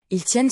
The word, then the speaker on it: tiennent: Il tiennent se termine par mais cette fin ne se prononce pas vraiment.